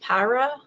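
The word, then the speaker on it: pyuria: They've actually finally defined that particular road, which is, I think it's actually pronounced Pyra.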